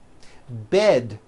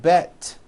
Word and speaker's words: bed: Bed has a voiced D ending. It's not bet with an unvoiced T, it's bed with a voiced D.